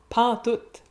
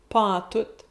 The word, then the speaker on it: pantoute: Il n'y a plus rien pantoute. Pantoute, autre beau mot québécois, c'est la contraction de pas en tout. On prononce le T final. Pantoute, pantoute.